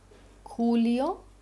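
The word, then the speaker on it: Julio: जे खोता, इसको भी हमेशा हमेशा ख की आवाज़ आएगी, ठीक है, खूंगला, यहाँ पे मैंने इसकी प्रोनाउंसिएशन दी है खूंगला, खूलियो, खूलियो, खूलियो, खूंगला।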